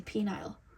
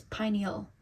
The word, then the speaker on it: pineal: I used to say pineal gland. It's not the pineal gland, it's the pineal gland. I used to say penile. It's pineal.